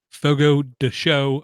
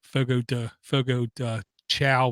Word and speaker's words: Fogo de Chão: 11 of us went to Fogo de Chão, I was told is the correct way to pronounce it, where I used to call it Fogo de Chão, which is basically a carnivore's dream come true.